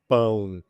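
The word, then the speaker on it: pão: You have to be very nasal and make the vowel longer.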